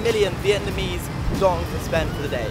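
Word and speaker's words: đồng: This bike was about 250,000 dong.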